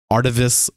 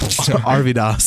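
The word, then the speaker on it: Arvydas: chance saying I'm taking arivis sabonis all right you don't deserve him because you said his name wrong aridos there you go aridos sabonis that was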